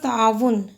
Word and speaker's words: تعاون: لفظ ہے ہمارے پاس تعاون۔ تے پہ زبر، عین پہ زبر، الف ساکن ہے، واو پہ پیش اور نون ساکن ہے۔ وضاحت دیکھیے، پہلا اور دوسرا مفتوح، چوتھا مضموم یعنی ضمہ کے ساتھ پیش۔ تغافل، تعارف، تصادم، تفاوت،